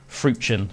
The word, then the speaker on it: Freuchen: As I said, his name is Laurent, so that's spelled Lorenc, and then Laurent Peter Alfred Fruchen.